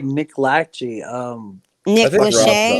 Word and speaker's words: Lachey: So it's That- actually that- spelling that- negligee, like lingerie.